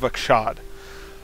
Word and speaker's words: Achshad: session of uh tomb of akshad i finally pronounced it right tomb of akshad uh and so uh where we're at is